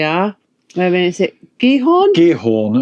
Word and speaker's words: Giethoorn: Giethoorn, apparently that's how you say it.